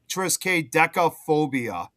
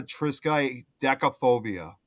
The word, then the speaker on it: triskaidekaphobia: No, I Uh, was just reading okay, so Kate put how you're supposed to pronounce that really long word. Friga triskaidekaphobia. Friga triskaidekaphobia.